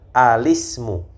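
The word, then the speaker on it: الاسم: misalkan Ismu ya Ismun bertemu dengan alif lam itu kita baca sambung jadi yang benar adalah alismu alismu Ya seperti seperti begini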